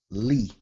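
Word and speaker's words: לִי: So this will be to me or for me, li. To me or for me. It's your lamed, your hirik, and your yod. Pronounced li.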